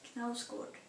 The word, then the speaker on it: Knausgård: Knausgård, I know how to pronounce it, Knausgård.